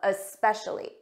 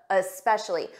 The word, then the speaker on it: especially: that uh especially uh especially for pronunciation it's a very soft difference and you might not hear it at a natural pace and I know some students they add an uh at the front of s's so when you try